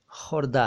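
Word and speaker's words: ख़ुर्दा: असल में ये खुदरा नहीं है, ये खुर्दा है जी। खुर्द से बना हुआ शब्द खुर्दा, लेकिन अब खुदरा ज़्यादा चलता है और खुर्दा बहुत कम चलता है।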